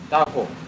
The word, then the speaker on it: Tahoe: Tahoe, yes, Tahoe, yes. That's how Apple pronounces it.